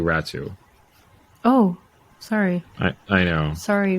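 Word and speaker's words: Räty: and Atu Ratu, or yeah, so Atu Ratty, yeah. It's apparently it's actually pronounced Ratu. Yeah, it's pronounced Atu Ratu.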